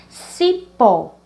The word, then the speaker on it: cipó: Cipó, cipó. Então, vamos começar pela última. Então, a última sílaba, pó, ela é a mais forte.